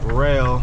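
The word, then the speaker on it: Roehl: know I work for rail r o e h l that's how you spell rail not r-a-i-l however else my other uh dirtbags spell it that's how you spell it r-o-e-h-l I like the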